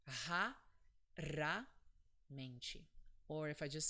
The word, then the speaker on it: raramente: So when the R is between vowels, it's pronounced R. It's this sound, so it's R. So the word is pronounced raramente. Or if I just say it quick, raramente.